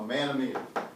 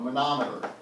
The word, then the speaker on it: manometer: joke turn through okay a man-made a manometer is really how we pronounce it it measures the vapor